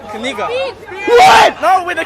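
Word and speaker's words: книга: It's Kniga.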